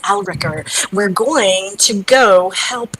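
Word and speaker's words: Yalrek: going to see yl is it alakir sorry alakir here is your pronunciation well here's your spelling y a l r e k r aler alakir one of those two aler yes aler we're going to go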